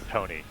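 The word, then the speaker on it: Toughneigh: It's pronounced Tony. Tony.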